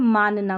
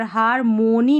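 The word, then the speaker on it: harmony: हार एच ए आर हार मोनी नहीं बोलना है एम ओ एन वाई मोनी या फिर मनी यहां पर मनी करके पढ़ेंगे मोनी नहीं पढ़ना हार्मोनी हार मनी मोनी नहीं हारमोनी नहीं हार्मोनी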